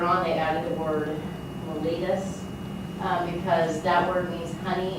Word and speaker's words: mellitus: Diabetes is one of the oldest known diseases, and its official name is called diabetes mellitus. That's how you say it. Mellitus.